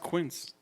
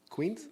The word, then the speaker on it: quince: It's pronounced quince. Queens? Squints Palladori? Yes, quince.